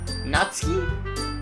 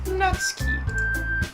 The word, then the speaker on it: Natsuki: How do you pronounce it? Natsuki? Yeah. Natsuki.